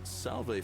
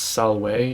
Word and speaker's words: Salway: that's a woman uh salv friend I'm garious mind telling me who you are he pronounced it wrong the shrine of preser it's Salway you idiot